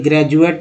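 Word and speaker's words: graduate: डी को क्या बोलते हैं, ग्रेजुएट में डी को ज बोल रहे हैं, ना कि ड द।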